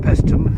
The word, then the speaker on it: Paestum: well this is the greek fortification called pestum i got that pronounced right and the nearest thing i can